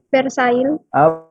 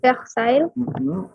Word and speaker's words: Versailles: Versailles. Versailles bacanya. Versailles. Versailles, L-nya nggak dibaca. Versailles.